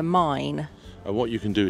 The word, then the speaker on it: Main: is called the mine so it's spelled m AI m a a i n which I would say main but it's actually called the mine and what you can